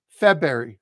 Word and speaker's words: February: So notice there's a hidden Y right after the B.